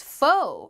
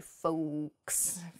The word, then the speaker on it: faux: the next word is fo faux has an x at the end when it's spelled on paper but we do not say folks we don't say that we say fo fo means fake faux